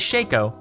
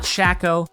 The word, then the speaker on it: Shaco: you say his name because his name is shaco and his clone is fakeo not shaco and fako anyway nidalee is another pick who